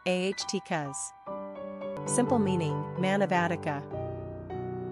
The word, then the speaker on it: Atticus: Latin number of syllables three ranking popularity 404 pronunciation aht cuz simple meaning man of Attica characteristics of Atticus